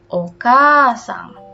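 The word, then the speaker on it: お母さん: Tapi kalau misalkan untuk orang lain maka berubah menjadi okasang. sama ya. Ini ada dua nih penyebutannya. A-nya berarti dibaca panjang.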